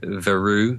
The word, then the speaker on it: Verreaux: Like I've recently been contacted by a guy called Ed Vereux. It's spelled Verreaux.